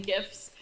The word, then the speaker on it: GIF: been speaking to brightening gifts it's sometimes just easier to show someone than explain how to do it yeah and you have to pronounce a gift because jiff is just a laughs when you turn